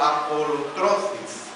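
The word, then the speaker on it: ἀπολύτρωσις: en el idioma griego que se pronuncia como apolotrosis apolosis y este verbo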